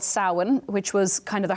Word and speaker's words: Samhain: And Samhain's, I think it's spelled Samhain, right? So if you were to look it up, but that's the Celtic pronunciation of that exactly, word. Yeah, Samhain or Samhain, depending on where you're from in Ireland.